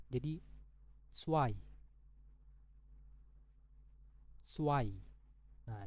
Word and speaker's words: zwei: Jadi zwei. Zwei. Nah, jadi untuk Z ini itu anggap aja kayak huruf TS. Ya, huruf TS kayak gitu ya.